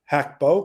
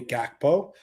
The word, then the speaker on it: Gakpo: How many goals has Cody Hako or Cody Gakpo, depending on how you pronounce it, uh scored in his 12 Caribou Cup appearances for Liverpool?